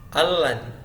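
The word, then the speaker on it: الذي: Alladzi. Ini bacanya al-ladzi.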